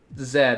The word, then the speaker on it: Z: the letter or Z I pronounce it Z because on America I don't pronounce it Zed and listen talking about